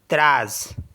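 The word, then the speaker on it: treize: टी ई टी आर ई आई जड ई त्रास तज मीस होता है 13 आर ई आई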